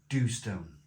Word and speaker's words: Dhu: A smooth, dark stout coming in at 4.3% ABV in a black bottle, and it's called Dhu. I believe that's how it's pronounced. Dhu.